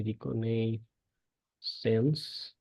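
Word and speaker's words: reconnaissance: সংক্ষেপে দেখবেন অনেকে রিকন বলে ডাকে এটা হচ্ছে রিকনে সেন্স এটার স্পেলিংটা নিয়ে আমার একটু কষ্ট হয় ব্রিটিশদের মত উচ্চারণ করতে পারি এটা রিকনেসেন্স বলে ডাকে এর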